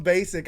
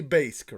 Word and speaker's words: Baysk: It's technically Baysk, right? It's correct, yes. But I mean, I prefer pronounced basic, so I'm okay that works getting around, you know.